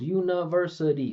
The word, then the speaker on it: university: How many syllables? University. There's five syllables here. So, none of them are equal. The syllables are never equal. So, we're going to have primary and secondary stress, right? And our unstressed syllables, we're going to make as obvious as possible. Listen to this. Uni. I'm not saying uni. Uni uni, right? I'm saying univers, right? You hear how obvious those stress syllables are that way?